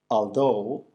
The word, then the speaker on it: although: Las palabras although or though, que significan aunque, y también dough, que significa masa, de pizza, por ejemplo, se pronuncian con la O en no en inglés. No. En este caso, la G y la H son mudas.